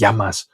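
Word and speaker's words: γεια μας: And this is then abbreviated in order to be easier to say. We drop the e from the beginning and it becomes yamas or yasu.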